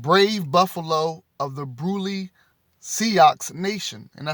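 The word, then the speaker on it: Sioux: this came from brave buffalo of the brulee seahawks nation and i spelled s-i-o-u-x just in case i may pronounce that wrong or say it wrong and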